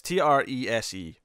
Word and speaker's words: Trese: I think it's Treze, or Treza, maybe. No, it's Treze. It was like Trey and then say, Treze. It's Trese.